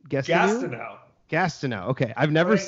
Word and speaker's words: Gastineau: How do you pronounce his last name? I don't. I know how. I. It's Gastineau. Gastineau.